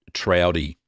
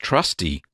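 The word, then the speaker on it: Trausti: And this was, I thought it was pronounced a trowdy. It's not. I got an email back from, it's pronounced trusty.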